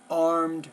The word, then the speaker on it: armed: You're not pronouncing the R, armed forces.